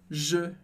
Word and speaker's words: je: Se você pensa, por exemplo, na letra E com a boca aberta, e arredonda os lábios para chegar no som O, só que dentro da sua boca você não muda nada.